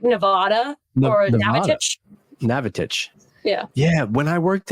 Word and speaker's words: Navattic: Navattic. Like you being from Jersey threw me off in the Navattic pronunciation. The amount of times you get like Nevada or Navattic. Navattic.